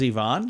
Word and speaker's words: Yvon: would you say that Yvonne Yvonne y-v-a-n as Yvonne yes oh okay Yvonne we have a very good friend named her name is spelled completely different than that uh show yard